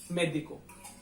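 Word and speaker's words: médico: वजन ज्यादा किस बात पे आता है, मे पे, मेदिको, मेदिको, ठीक है, तो ये उसके हिसाब से काम करता है, मेदिको, मेदिको।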